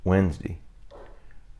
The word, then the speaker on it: Wednesday: Good morning and welcome to Wednesday. Wednesday. 3 syllables. Some say Wednesday.